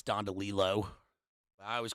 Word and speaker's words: DeLillo: Of course, tonight we're covering Cosmopolis by Delillo.